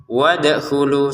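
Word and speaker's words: وَادْخُلُوا: Jadi kalau ini memang harus dipantulkan. Wadkhulu seperti itu. Jangan sekedar wadkhulu. Wadkhulu ini harus dipantulkan. Wadkhulul.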